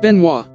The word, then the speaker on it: Benoist: flying boat designed by thomas benoist pronounced benoit an aviation entrepreneur from